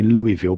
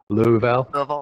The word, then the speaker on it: Louisville: I say Louisville, but that's wrong, isn't it? It's Sorry. Louisville.